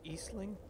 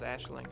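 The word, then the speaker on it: Aisling: person yeah is it eastling I don't know it's not a very common name over here it's pronounced like Ashley but smaller like an ash that just says ashlink yeah but like I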